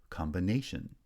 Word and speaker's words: combination: third syllable and finally combine becomes combination where primary stress on the second syllable in combine is shifted to the third syllable in combination secondary stress then is